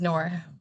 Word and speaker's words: Nur: My first name is Nor.